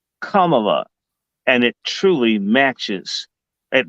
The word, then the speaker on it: Kamala: That's actually the proper pronunciation, Kamala, and it truly matches at least what she does.